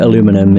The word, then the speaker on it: aluminum: I just know that aluminum is the American pronunciation, as far as I'm aware, whereas aluminium is the British pronunciation.